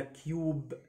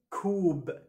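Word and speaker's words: cube: عليه مشاكل كبيره جدا كل الناس بتقولها كيوب كيوب تمام اسمه كوب كو يو اهي كوب كوب هنا عشان اليو ساكن اي برض ماجيك اي هنطق اليو كوب كوب زي كلمه توز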